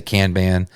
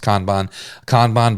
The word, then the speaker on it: Kanban: Some people say Kanban. I'm pretty sure it's pronounced Kanban board of to do, doing, and done that you're running in your business.